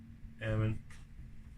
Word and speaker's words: Eman: news thanks a lot Eman I say your name right and yeah rhymes with salmon and he's going all